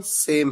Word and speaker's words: sow: बताए, होमोफोन्स जिनकी pronunciation same है और होमोग्राफ्स जिनकी स्पेलिंग सेम है। अब देखिए एक इंटरेस्टिंग वर्ड आपके सामने, SOW। इस वर्ड की प्रोनाउंसिएशन है यानी उच्चारण है सो, लेकिन इस वर्ड के दो अलग अलग मीनिंग है।